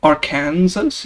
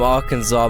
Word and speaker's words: Arkansas: Wow, great description of Arkansas.